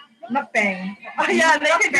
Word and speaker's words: mukbang: Now you got me all fucked up because you said it wrong. It's a mukbang.